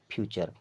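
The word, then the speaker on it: future: भी ध्यान रखिएगा कि अगर टी य आर ई साथ में आता है तो हमेशा इसको पढ़ते हैं चर की तरह कैसे पढ़ते हैं चर की तरह छोटा च और छोटा र की तरह ठीक है अब उसके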